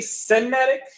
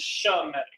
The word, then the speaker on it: Shemitic: When it comes to this, when people say Semitic, it's kind of it's strange for them to even say it like that, because the correct way of saying it, even in the English form, is Shemitic.